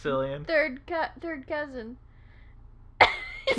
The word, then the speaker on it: Cillian: Killian Murphy. That's But I believe that might be how his name's actually pronounced. That's Cillian Murphy's It's Cillian.